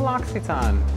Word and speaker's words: L'Occitane: I did have a person recently tell me that I was pronouncing L'Occitane wrong. And if you've been with me for a while, you know that I learned how to pronounce L'Occitane from the brand, from a debacle we had many, many years ago. Here is saying it properly, so don't come for me.